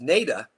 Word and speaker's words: Nada: Nada Tunnel, pronounced Nada.